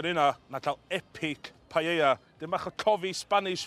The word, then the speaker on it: paella: ..the more intense the paella's colour will be in the end. Paella is pronounced without the "l".